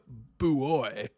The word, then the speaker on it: buoy: But is it Bowie or buoy? It's buoy.